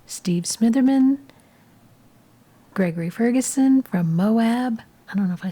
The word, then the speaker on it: Moab: But it's Moab, not Moab.